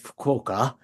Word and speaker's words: Fukuoka: island, called Fukuoka, Fukuoka, it's spelled in English, Fukuoka, that's how it's pronounced.